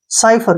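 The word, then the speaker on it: cypher: आपने जो है ना काइपर नहीं पढ़ना है क्य सी के बाद वाई आया है तो साई पढ़ेंगे इसको क्या पढ़ेंगे साई और पी एच का बन गया फ और ई आर का य साइफर क्या पढ़ेंगे इसको साइफर साइफर का मतलब होता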